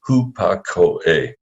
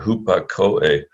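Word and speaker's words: ὑπακοή: Testament word for obedience, the Greek is hupakoe, 4 syllables there, hupakoe.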